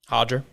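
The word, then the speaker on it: Roger: Hodger. Hodger, I think. I say it. Why is the first R in Portuguese an H, but the second one's an R?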